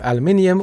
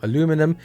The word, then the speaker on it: aluminium: Like I said here, unibody enclosure, all made of aluminium or aluminum, but aluminium is the correct way to say it.